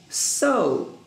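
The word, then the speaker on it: sew: sleep take skip wait so pay attention to this word it's not s-a-w it's s e w s e w it's so if you're a student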